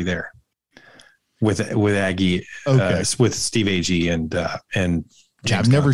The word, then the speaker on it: Agee: With Aggie, with Steve Agee and James Gunn. I'm never sure how to say his last name. It's Agee. It's definitely Agee. Definitely Agee. I've heard it a billion times on different shows and whatnot.